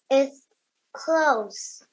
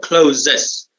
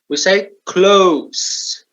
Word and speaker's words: clothes: It's clothes. Clothes. Yeah, remember, not closes. Clothes. Okay. We don't say the E. We don't say the E. The E is silent. We say clothes.